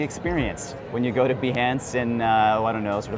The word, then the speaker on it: Behance: One of the first questions we got was, how do you pronounce Behance? I know it's a controversial subject because many people think it's pronounced Beyonce, and they get disappointed when Behance is not Beyonce's homepage.